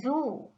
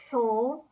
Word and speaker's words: Zoo: a bit differently because the Z is pronounced like the alphabets T and S coming out of the mouth together. So, das ist der Zoo, that is the zoo.